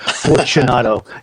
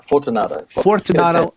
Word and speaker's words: Fortunato: is it Fortunato? Have I always been pronouncing it wrong, or am I just Americanizing it? Fortunato. I always hear Fortunato, so that's how he pronounced it. So that's the best way. Fortunato. Fortunato. I apologize. Italian would be Fortunato.